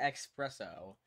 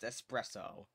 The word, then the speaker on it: espresso: s e s especially that's like saying expresso i don't know why people spell like that it makes no sense it's pronounced espresso fit i like that